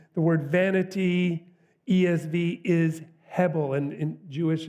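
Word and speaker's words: הבל: word vanity ESV is hebble and in Jewish it's pronounced the the B is almost like a V heav he and so it's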